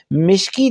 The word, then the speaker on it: مشکی: مشک سے نسبت دیتے ہوئے اس کو ہم مشکی تلفظ کیا جاتا ہے۔ سو مشکی سے مراد ہے